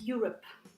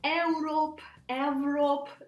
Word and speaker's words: Europe: I hear all different variants, so Europe, different ways people are trying to say it, but it's you. For example, if you speak Russian, it's like Yula. Imagine that you say this word, Yula, yeah? So it's you, and the stress goes to this first syllable, because again, if you